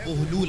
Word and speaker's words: بہلول: ہم اسے بہلول کہہ رہے ہوتے ہیں یا بہلول کہہ رہے ہوتے ہیں، وہ ہمارا تلفظ ہے، لیکن درست تلفظ جو ہے وہ بہلول ہے، بے پر پیش کے ساتھ۔ بغداد میں ان کا